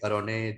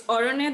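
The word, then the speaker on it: Aranyer: And you pick Arone Din Ratri. Do you want to Yeah. talk about? Sorry Yeah. for the So it's mispronunciation. Sorry. Yeah, it's Orone Din Ratri, and in English, I think the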